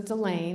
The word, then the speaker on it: Dela: uh her name was was Dela rhymes with Elaine and she was from